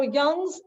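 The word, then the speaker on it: Wang: email me or email Kristen yes okay so Young's email is in the chat it's why it's pronounced young so it's yeah yeah but it's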